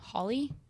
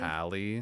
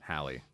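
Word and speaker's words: Halle: Holly? Holly, the girl who plays Oh, the mermaid? Hallie. Hallie? That's it. Hallie.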